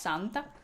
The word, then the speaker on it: Santa: It's written the same way, but it's pronounced Santa.